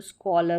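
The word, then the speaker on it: scholar: तो स्कॉलर हो गया।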